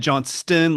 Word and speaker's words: Johnston: But you said Johnston like it was perfect. Thank you for getting the T.